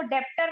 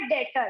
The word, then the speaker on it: debtor: इसकी स्पेलिंग होती है DEBTOR। इसको डेप्टर नहीं बोलते, ये होता है डेटर।